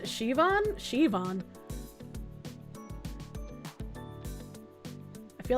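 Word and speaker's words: Siobhan: Yoban is pronounced Shivon.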